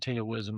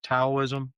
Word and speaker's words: Taoism: I mean, because I've always pronounced it Taoism. I think you pronounced it earlier correctly. Taoism, Hmm.